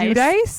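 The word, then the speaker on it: Giudice: Judice. I was about to say Gi J cuz when they tried to be full Italian that one time, but that's not how they actually pronounce her last name.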